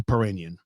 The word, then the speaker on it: Piirainen: holly h-o-l-l-y the last name is puranian and it's spelled p i i r a i n e n so that's holly perrinion so holly and zachary her little brother arrived